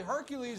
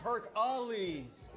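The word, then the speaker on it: Herakles: Tina, actually, Hercules is the Roman pronunciation. It's actually pronounced Herc-Ales.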